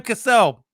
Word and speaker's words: Cassell: Think of it like cassette tape. Can you say cassette? Because it's the same way. Cassette and Cassell. It's Sam Cassell. Cassette has two. You know this, Elizabeth. You're a Houston fan. It's spelled okay. The double TE is what makes it make the et noise.